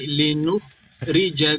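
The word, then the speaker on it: لِنُخْرِجَ: Jadi bukan baca linukha, tapi linukhrija bihi habban.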